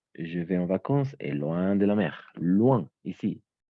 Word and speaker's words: loin: En effet, le village où je vais en vacances est loin de la mer. Loin, ici. O-I et O-I latine et Y, on va toujours prononcer comme un OIA.